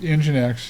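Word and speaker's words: nginx: It's pronounced EngineX.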